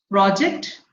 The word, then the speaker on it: project: So if it is a noun, it is in the beginning. It is on the curve. If it is a verb, it comes on, the stress falls on the second syllable, that is the term.